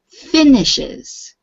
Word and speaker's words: finishes: yes finishes work finishes the stress is on the um first syllable so you say finishes try it finish it